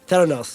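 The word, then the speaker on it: Theranos: Panos how do you say it Theos Theos Theos that's it cuz it's about therapy and Diagnostics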